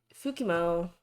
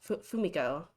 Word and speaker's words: Fumiko: Cause Fukimo, that's how you say her name, right? Yeah, Fumiko.